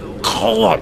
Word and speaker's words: Golem: That's not how you pronounce it. It's pronounced Golem.